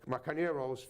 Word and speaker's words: Carneiro: So, folks, check it out, Carneiro's, sorry, that's how you pronounce it, right? There's no I in the end.